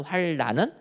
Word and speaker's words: 환란: 환란, 리을로 끝나는 환란은 환란으로 발음해야지 맞는 거지만 오늘 성경에 나오는 환난, 니은으로 끝나는 난은 환난으로 발음해야지 맞는다라는 거예요.